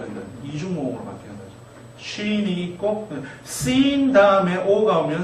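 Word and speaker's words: שִׁין: 시옷 발음이죠. sin. 그 다음에 점을 오른쪽으로 옮기면요. shin이 됩니다. C하고 she하고는 다르죠. shin.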